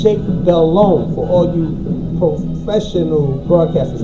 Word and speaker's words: Delhomme: who say Jake Delhomme, keep in mind the H is silent. It's Cajun. It's Jake Delhomme for all you professional broadcasters out there. It's Jake Delhomme.